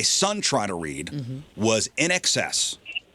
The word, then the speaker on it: INXS: Now, In Excess is spelled INXS. Now, if you didn't grow up seeing that iconic, MTV logo, a teenager's default setting is to read it like a single word.